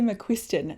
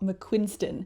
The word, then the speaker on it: McQuiston: blue by casey mcquinston i always say name wrong it's casey mcquiston not mcquinston i read this book